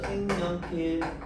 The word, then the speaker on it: 색연필: 이럴 때 앞말이 자음으로 끝나고 뒤에 시작되는 모음이 이야, 여, 요, 유 중에 하나일 때 니은을 첨가한다. 그러면 이거 발음을 어떻게 한다? 색년 니은 첨가가 일어나고요. 그 다음에 다시 니은의 영역과 기억이 비음으로 바뀌는 거죠. 생년필. 그래서 비음화가 일어나서 교체가 일어났다.